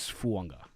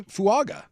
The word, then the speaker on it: Fuaga: And by the way, I know it is spelled Fuaga. There's a silent N, just like Tua Tango Vailoa. It is Fuanga. Oh, really? I would say Fuaga. It's not Fuaga. Oh. It's Fuanga. It's Fuanga. Fuanga. Like 100%.